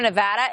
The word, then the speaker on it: Nevada: Took me a while to get that right over the years, but it's Nevada, right?